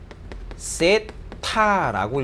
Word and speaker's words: 세타: 자, 그래서 요렇게 생긴 거를 우리가 뭐라고 읽냐면 세타라고 읽어줘요.